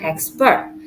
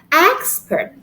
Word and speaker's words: expert: syllable okay take example the word expert when the word refers to a noun we put the stress in the first syllable expert okay but when the word refers to to a verb we put the syllable in the second syllable so it turns into expert okay export okay another